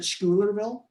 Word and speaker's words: Schuylerville: upstate i've lived in this little town called schuylerville or as people pronounce it schoolerville okay um i've been living in this town